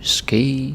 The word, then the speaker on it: ske: Ske, se, le. Ske, se, le. Ske, se, le. Right? Just one syllable, like straight out the alphabet.